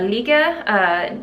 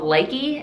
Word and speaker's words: Nika: The needles that I'm using are Nika needles, which last episode I called Likey, and apparently that is not the way to pronounce them. No, Kristen, that is not how you pronounce them.